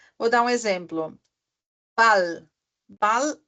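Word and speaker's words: Ball: dar um exemplo Bal Bal é bola então é b a l l Bal então aí se fala bem rápido Bal não fica Bal que nem antes do Bat Bat que eu tinha dado o exemplo né que ele era compridinho Bat não é Bal bem pum pum pum ah por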